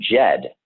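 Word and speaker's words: Djed: it comes from the root word jed and jed is spelled d-j-e-d and the jed represents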